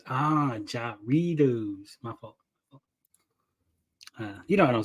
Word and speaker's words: Jarritos: in the movie love it love it it's pronounced Jarritos ah Jarritos uh you know I don't speak housekeeper how